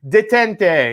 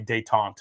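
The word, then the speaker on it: Détente: with it it's amazing detente and i totally that up it's actually dayton sorry guys one more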